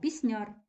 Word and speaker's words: пісняр: цієї групи приєднуємо далі пісняр знову називає слово людину за її діяльності тобто людина яка виконує пісні наголошено суфікс яр перед нами наша улюблена